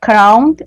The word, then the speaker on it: crowd: a crowd of people, Yes. Pronounce the D. Let's hear the D. crowd, Okay, so that word is crowd. crowd. So Mari, that is different from crown.